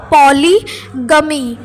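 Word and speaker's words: polygamy: जैसा मैंने बोला, इसका प्रोनाउंसिएशन होगा पॉलीगमी, ठीक है।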